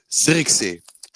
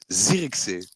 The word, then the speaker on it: Zirkzee: Pronounce Xerxes for me. Zirkzee. Oh my lord! Say it again. Zirkzee.